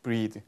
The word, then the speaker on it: breathe: 그리고 얘는 발음도 breath, breathe.